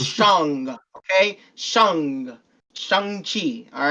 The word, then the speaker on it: Shang-Chi: don't know how to say his name, it's Shang-Chi. So That's what I Shang, said. okay? No, you said it. I'm just saying for the other uncultured people saying Shang-Chi. No, it's Shang, okay? Shang-Chi, all right?